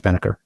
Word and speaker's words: Pennebaker: So ETA Circles, great ETA club run by Reed Pennebaker, I guess is how you pronounce Reed. I think it's Penneker.